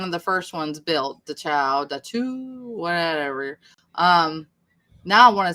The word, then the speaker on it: Dachau: Dachau. That's Dachau.